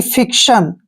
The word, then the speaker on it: fiction: और TION का उच्चारण जो है हम सन करते हैं। जहां भी चारों लेटर इकट्ठे आते हैं यानी कि TION इकट्ठे आते हैं तो इसको हम पढ़ते हैं शन, यानी कि फिक्शन।